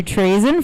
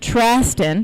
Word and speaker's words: Traston: This is going to be for Matthew Trazen, first attempt. Currently, Adam Gordon is to follow, then Ryan Hansen. All right, it's Matt Traston. Been saying it wrong.